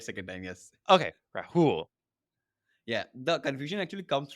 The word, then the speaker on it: Rahul: Okay, Rahul.